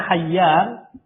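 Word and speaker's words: حيان: Ini bacanya hayyan. Ini bacanya hibban.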